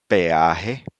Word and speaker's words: peaje: Then the letter E plus another strong vowel A or O does not form a diphthong and each letter is pronounced separately. Again, we have real, Real. peaje, Peaje.